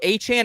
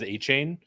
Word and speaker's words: Achane: So A-Chan is the right pronunciation here. I don't know if I was saying it wrong. I struggle with saying, but A-Chan is the right pronunciation. I'm correct on that, Eric? The NFL released a pronunciation guide where it is listed as A-Chain. But there's also been some reporting that he prefers Achane and all kinds of different varieties.